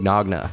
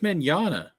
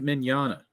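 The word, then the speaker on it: Mignogna: harassment accusation surrounding Vic mogna what it's Vic Manana the second g is silent it's Vic man Vic Manana what the [ __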